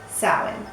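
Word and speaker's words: Samhain: salad now it's spelt this way but it's pronounced salad and this was practiced in the areas of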